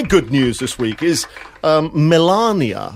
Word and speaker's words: Melania: news this week is Melania I've been told to pronounce not Milania Milania bride and her son